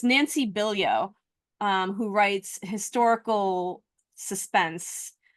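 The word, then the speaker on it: Bilyeau: Well, anyway, it's um it's Nancy Bilio, um, who writes historical suspense. Um, her last name is spelled B I L Y Au, Billio. Nancy Bilio.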